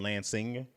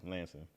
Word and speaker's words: Lansing: Deeds we don't ever say like I'm from Lansing but you'll hear me say Lansing yeah I never heard of the place until you said it and I only said how you said yeah Lansing Lansing so but you if you read it you'll